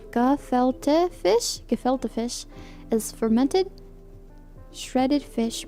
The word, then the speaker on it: gefilte: Gefilte fish, pronounced gefilte fish, is fermented, shredded fish meat that is mixed.